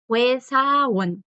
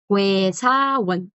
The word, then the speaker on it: 회사원: Vocales compuestas que no suenan como están escritas. Estas dos suenan OE. Como aquella palabra extranjero. Weigugin. Igual acá, 회사원, 회사원.